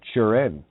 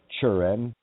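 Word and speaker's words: Turin: Shroud uh that that churin you know in Ireland T is pronounced with a cha sign like a chuna sandwich not tuna it's a chuna sandwich so it's the shroud of churin it's a shroud that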